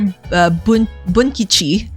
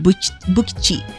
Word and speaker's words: Bunkichi: So here, Bunkichi, I always, mispronounce his name. I always end up saying Bukichi.